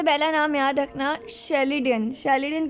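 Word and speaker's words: Schleiden: शेल्डन की spelling है SCHLEDEIN, शेल्डन। शिवॉन, SCHWANN।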